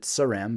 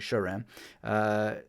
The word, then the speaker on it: Saram: I used to pronounce it Saram, but I learned that it's actually Sharam.